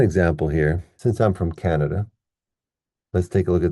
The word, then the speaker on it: Canada: Since I'm from Canada, let's take a look at that word. It has three syllables, ka, na, da. So we stress the first one here.